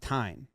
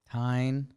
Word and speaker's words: Tijn: It's a nickname for Constantine, but it's pronounced Tyne. Tyne.